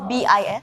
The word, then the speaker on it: bis: Is it B-I-S. Oh, bis! Formal Indonesian, like the proper Indonesian is bis, B-I-S. But I think Like in daily conversations, you would pronounce it as bus.